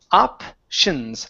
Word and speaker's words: options: don't pronounce the T the t i o n is always going to be Shin options options options good one